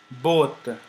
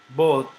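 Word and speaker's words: botte: uh used double t you don't have to pronounce them uh twice so which means i i want to say that you do not pronounce it like both okay but as if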